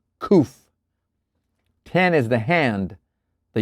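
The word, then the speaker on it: קוף: KOF Q pronounced KOF.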